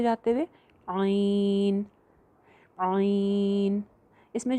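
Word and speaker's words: عین: मद करके पढ़ना है इसका जो नाम है वह है आईन जबर या आई और आगे नून जो है वह साइलेंट करना है नून को बाउंस नहीं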